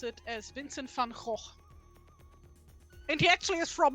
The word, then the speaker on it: Van Gogh: I would pronounce it as Vincent van Gogh.